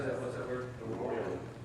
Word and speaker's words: arroyo: Arroyo.